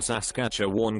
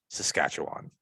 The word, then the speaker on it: Saskatchewan: is really cool northern saskatchewan got a lot of visits from local bear he means saskatchewan it's it's it's a province in canada it's pronounced saskatchewan as but a horrifying